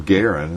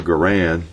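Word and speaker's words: Garand: is uh you know John uh John Garen pronounced his name Garen as I understand and uh but once people start calling it The Gan it's stuck and so you start walking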